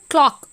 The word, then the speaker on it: clerk: ஆக்சுவலாக நம்ம வந்து கிளாக்குன்னு தான் சொல்லணும். நம்ம எல்லாருமே யூஸ்வலாக இப்போ எப்படி சொல்லிட்டு இருக்கோம் அப்படின்னா கிளர்க் அப்படி தான் சொல்கிறோம். பட் you know the pronunciation of இட், இட்ஸ் அ கிளாக் அப்படின்னு தான் நம்ம சொல்லணும்.